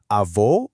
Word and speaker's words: avó: Avó, for grandmother, is pronounced avó, specifically using a closed O sound, kind of like O.